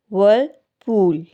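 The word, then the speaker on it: whirlpool: इसमें आर जो है वो साइलेंट होगा. वर्लपूल.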